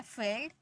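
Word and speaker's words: field: ई में पढ़ते हैं आईई को भी हम ई में ही पढ़ते हैं जैसे फील्ड अब यहां पर देखिए आई ई है आई ई को किसम पढ़ना है ई में पढ़ना है यानी कि ई में पढ़ दिए तो हमारा हो गया फील्ड सीज लीव ई आई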